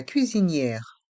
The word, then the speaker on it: cuisinière: Z ze la cuisinière on prononce bien le I et le E accent grave de cuisinière la cuisinière et le